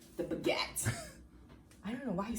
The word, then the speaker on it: baguette: It's baguette. Why you say it like the baguette? I don't, you gotta channel your French, your francophone self.